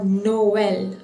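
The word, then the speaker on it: Noël: all two vowels, and it generally separates the two vowels, rather pronouncing it as one two separate syllable, like Noel. You see, Noel. It is not pronounced as Noel. Noel.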